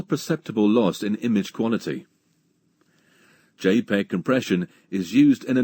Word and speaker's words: JPEG: jpe or dot jpeg in computing jpeg is pronounced j a y p e g jpeg it's a commonly used method of compression for